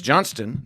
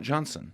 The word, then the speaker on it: Johnston: so with you though would they pronounce the T or they go Hannah Johnson they don't pronounce the T at the end of my name Johnston yeah it's Johnston not Johnson it is and then